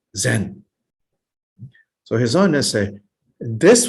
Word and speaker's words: Zen: together put together is this word chan which in japan is pronounced as zen so his own essay